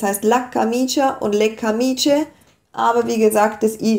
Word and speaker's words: camicie: la camicia, le camicie, aber das I bleibt drin, wird aber auch nicht betont. Also es heißt weder la camicia noch le camicie, es heißt la camicia und le camicie, aber wie gesagt, das